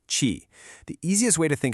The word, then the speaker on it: qi: It's called qi, pronounced qi.